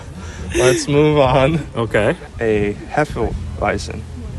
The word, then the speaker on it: Hefeweizen: A Hefeweizen. Hefeweizen. However, say it right. If you're going to be a fan, Hefeweizen.